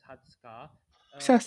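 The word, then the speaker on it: 二十日: may i add something with the exception of 20 or that will be pronounced as hatsuka 11 to 19 would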